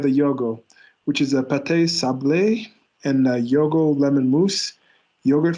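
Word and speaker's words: pâte sablée: the other one we had um it's actually pronounced uh pat sable um notice the ego accent um pat sublay it's a it's a um short crust pastry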